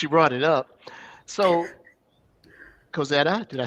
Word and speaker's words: Kozeta: since you brought it up, so Kozeta, did I say it correctly?